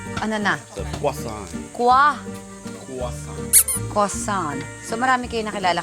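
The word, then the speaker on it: croissant: silent daw yung when you say the word crossan you don't need to say the T ano na quason kwa quasan quasan So marami kayong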